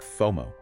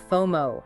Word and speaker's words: FOMO: Ah, like FOMO. Exactly. Fear of missing out. We say FOMO, not F O M O.